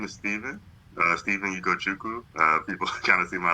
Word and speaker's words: Ugochukwo: My name is Stephen Ugochukwo. People kind of see my last name, it's hard to pronounce. Not too hard once you get used to it. That's good. But Ugochukwo.